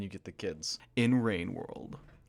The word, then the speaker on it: Rain World: Painworld is actually a typo, and you got clickbaited. It's pronounced rainworld.